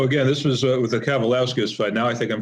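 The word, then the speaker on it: Kavaliauskas: Um, so again, this was with the Cavalowskis fight. Now, I think I'm finally pronouncing it. I'm in rhythm. Thank you for your assistance earlier. I guess Cavalowskis, I think it's pronounced, but you got it now.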